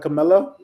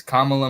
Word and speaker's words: Kamala: I remember the uh the thing to remind you is Kamala mamala Kamala M I learned it